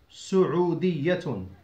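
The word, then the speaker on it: سعودية: اسمي انا سعوديه سدي سعوديه وكما تسمعون انا اؤكد على ضمه السينمه لان البعض ينطقها بالفتحه فتحه وهذا خطا سعيه نبهه نسبه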